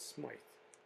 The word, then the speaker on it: Smyth: Someone was saying, is it Smith or Smythe? She said Smythe. And I hear Smith.